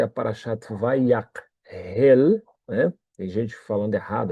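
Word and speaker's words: ויקהל: Vayakhel, é que tem um K e um H na transliteração. E isso na transliteração configura o som de RR, mas está errado, porque a palavra é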